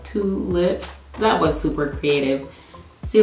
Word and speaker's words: Twolips: So it's spelled T-W-O-L-I-P-S, like tulips, the flower, but Twolips.